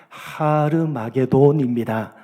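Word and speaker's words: הר מגידו: 대표적인 곳이기 때문입니다 2 아마겟돈 은 히브리어로 정확하게 발음을 하면 하르 막의 돈입니다 하루는 언덕 이라는 뜻이고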